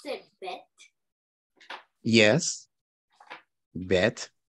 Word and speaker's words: bet: Bet. In Hebrew, it's pronounced bet. In Arabic, it's pronounced bait.